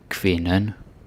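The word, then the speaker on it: kvinden: is woman in finna quinnon oh a little side note I remember some Americans pronouncing this like que like it's a queue it's not a q it's a k and a v Okay so foreign now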